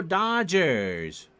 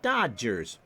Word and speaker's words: Dodgers: See, the whole point, and Vin Scully took grief for this for years, he never pronounced the second D. We would say Dodgers. But old Vin would say, it's time for Dodger baseball.